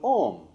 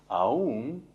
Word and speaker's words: Om: the guided meditation of ohm which is the guided meditation of enlightenment and it says that all is composed of three syllables ah whoa and M because ohm is enlightenment